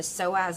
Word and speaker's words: psoas: The P is silent. I can see a small portion of the iliacus. And then the psoas is basically this muscle right here.